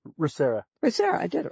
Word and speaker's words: ReMA: How do you pronounce that correctly? ReMA.